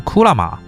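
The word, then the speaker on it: 蔵馬: 才发现，藏马的日语发音原来是库拉玛。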